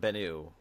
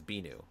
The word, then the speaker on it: Binu: binu but wait so it's not bennu it's binu right I pronounce it binu but is it spelled the same way no b-i-n-u it was at first